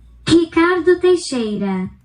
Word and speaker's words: Ricardo Teixeira: Ricardo Teixeira.